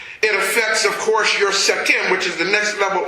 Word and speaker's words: Sekhem: It's spelled S-E-K-H-E-M, Sekhem.